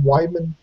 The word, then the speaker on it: Weidman: Goes into this match, starts playing around, starts fucking around, gets cocky, and I think it was Chris Weidman. Is that how you say his name, Weidman?